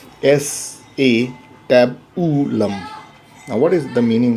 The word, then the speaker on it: acetabulum: regarding thee now again this is not acetabulum it is s a tab to love but it is difficult so I will pronounce a CW but in reality it is s a tab ooh lump now what is the